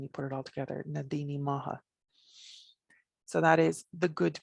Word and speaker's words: Na Daoine Maithe: it changes when you put it all together nadine maha so that is the good people and i